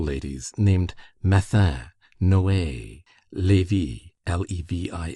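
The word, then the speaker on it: Lévis: There were in Madame Di's salon some very noble ladies named Ma Noea Levi L E V I S which was pronounced Levi Kambis C A M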